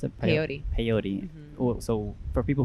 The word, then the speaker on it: peyote: So can you talk about more of this peyote ceremony? How do you pronounce it? Peyote.